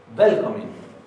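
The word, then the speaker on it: velkominn: Recuerden que en islandés todas las palabras se acentúan en la primera sílaba. No, gracias. Velkomen. Le está hablando a un hombre, entonces se ve una doble N ahí. De todas maneras, no se va a escuchar esa doble N.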